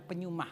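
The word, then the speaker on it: pneuma: Kalau dari pihak Tuhan secara rohani, Tuhan akan memberikan tulisannya peneuma, bacanya penyumah.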